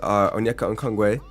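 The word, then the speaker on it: Onyeka Okongwu: Warriors had Jabari Smith, Kaysen Wallace, Onyeka Okongwe. You like that? You like how I pronounced that correctly? I did my research.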